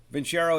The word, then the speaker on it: Vincero: Vincero is offering a special 15% off for Boneyard